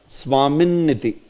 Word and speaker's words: Swamin iti: Swamin iti. Together. You are understanding this? So, wherever you see it is ending on a consonant, just see when is the next vowel and pronounce it straight together.